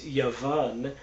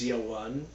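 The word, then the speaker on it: יָוָן: It's Yud Waw Nun, which is pronounced in modern Israeli Hebrew. It's Yavan. In my pronunciation, it's Yawan.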